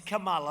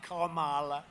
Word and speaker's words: Kamala: Kamala. You have to pronounce her name right. It's Kamala, like a comma, Kamala.